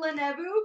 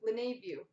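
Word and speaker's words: LeNeveu: hitler rookie of david lenevo for the arizona front nope i know i said that one wrong see they have the pronunciation on the back lenae view the nave view there we go folks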